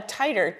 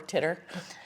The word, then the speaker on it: titer: So, a titer, t i t e r, uh not teeter or titter.